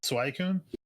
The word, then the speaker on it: Suicune: Always at our time was I think you pronounce it Suicune.